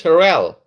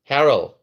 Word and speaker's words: Harrell: This mayor Bruce Bruce Herell Harrell, sorry I can't pronounce his name.